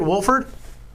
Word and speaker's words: Wohlford: I'm doing pretty good so did I pronounced your name right your last name right Wolford yes it is yes sir sweet sweet